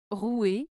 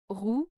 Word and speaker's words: rouer: en terme de prononciation rou se prononce avec le son ou comme dans rou tandis que tou se